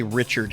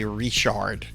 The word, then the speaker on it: Richard: And I've explained this like we we don't say Richard here, we say Rishard. Um, even though it's spelled the exact same way.